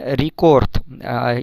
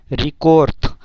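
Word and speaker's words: рекорд: তো ইয়া পাবিলা মীরা ভই রিকোর্থ, এখানে রিকোর্থ, ইংরেজিতে রেকর্ড, বাট রাশিয়ান ভাষায় এটাকে রিকোর্থ, রিকোর্থ, যদিও লাস্টে দে আছে কিন্তু এটার উচ্চারণ ত হবে, রিকোর্থ।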